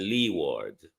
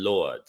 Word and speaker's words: leeward: the English pronunciation windward and leeward but we call them windad and lord now lord is my